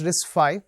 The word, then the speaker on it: RISC-V: of all it's pronounced risk five right a v symbol it's a Roman Roman V so it's number five risk five we'll get